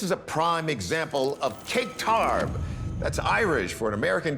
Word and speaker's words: caic tarbh: This is a prime example of cake tarb. That's Irish for an American term we can't say on TV, but it rhymes with bull spit.